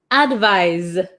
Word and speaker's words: advise: or recommend it's a verb one more time pronunciation advice advise okay okay so we'll do it really quick